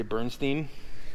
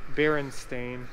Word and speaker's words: Berenstain: old did you know most people never say the name right they say bernstein oh i know yeah this is einstein berenstein i think berenstain stain i don't know